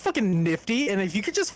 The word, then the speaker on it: NFT: I don't know if you know, but it's pronounced fucking nifty, and if you could just fucking get on board with that.